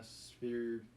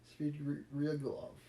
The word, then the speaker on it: Svidrigailov: Marfa Petrovna Svidrigailov. Svidrigailov.